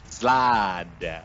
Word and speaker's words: Slaad: It's spelled Slaad. Yeah. Slad.